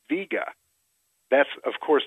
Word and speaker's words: Vega: after Vega called the Vega the actual pronunciation of the star and few people know this is VGA that's of course not